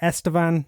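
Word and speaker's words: Estevan: in a place called I'm going to pronounce it right estan Saskatchewan that's very good yeah is that right that's a very good pronunciation I uh yeah the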